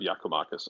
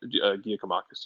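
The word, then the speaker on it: Giakoumakis: don't give me credit of yakomakis uh for some reason I call him giacomakis yesterday because I I don't know man my brain short circuited or something um very much the incorrect pronunciation so uh don't give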